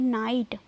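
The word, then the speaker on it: night: तो जीएच क्या है साइलेंट है, ठीक है साइलेंट है। जैसे हम बोलेंगे नाइट, लाइट, नाइट, माइट आया ना, नाइट आई ना,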